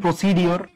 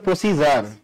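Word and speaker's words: procedure: না এটা একসাথে এটা একসাথে ভাইজা তো অনেক কিছু কয় এইযে আপনারা এটাও ভুল কন কি সুন্দর করে উচ্চারণ করেন প্রসিডির না অনেক আছে প্রসিডির বলব প্রসিজার এটা হচ্ছে ইজারালা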